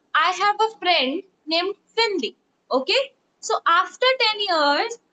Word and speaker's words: Finley: Finley or Willy? It is starting from V or F. F I N L E Y. Fly. Right. So Augusta told me that ma'am I have a friend named Finley.